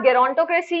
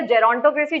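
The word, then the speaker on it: gerontocracy: फिर उसके बाद गेरोंटोक्रेसी या जेरोंटोक्रेसी, जो भी आप प्रोनाउंस करते हो।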